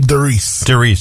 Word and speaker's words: Derice: Helping with business empowerment today is our guest, Geo Derice. Am I pronouncing your name correctly? Derice.